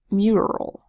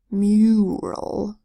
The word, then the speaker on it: mural: this word is pronounced mural where that U is making more of a long you sound you mmm mural and it kind of